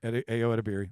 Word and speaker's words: Ayo Edebiri: You pronounced Ayo it. Adabiri. Ayo Edebiri.